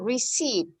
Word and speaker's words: receipt: The pronunciation, again, receipt. This word? The P is not pronounced.